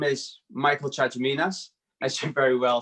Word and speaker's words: Chatziminas: be on here so my name is michael chachaminas as you very well said before uh i'm